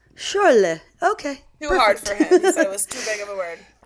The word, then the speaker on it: Schorle: And what's sad is that is SCH, I always think of Scheiße. So I could pronounce sh, like it's supposed to in German. So it was Schorle.